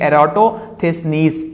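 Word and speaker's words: Eratosthenes: जी एरेट्स ये एरेट्स इसको हम यूं प्रोनाउंस करेंगे एरोटिक निस तो ये अरेटिस नीस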